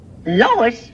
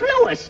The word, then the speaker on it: Louis: at the plant Lois Lois me name is Lewis not Lois je W everybody in topat me name wrong it's LS l o u i s Lois uh uh Louise